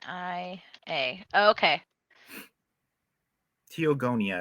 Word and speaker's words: Teogonia: n i a okay teogonia I believe is the way it's pronounced yeah Stephen and I